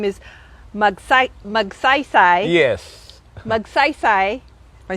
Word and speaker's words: Magsaysay: Magsaysay. Am I saying it right? Magsaysay, yes.